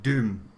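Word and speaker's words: Dom: your German history but Vinnie said it's pronounced doom doom doom Cathedral if you don't know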